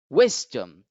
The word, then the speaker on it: wisdom: over the first syllable so whis gets to be accented while dumb is not accept accented so the word is pronounced wisdom wisdom wisdom next a common word